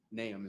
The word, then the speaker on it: Nahum: There's a lot of pronunciations of it. Nahum is the correct way.